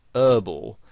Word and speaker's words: herbal: Now, in American English, the word herbal has the H silent, so they pronounce it herbal.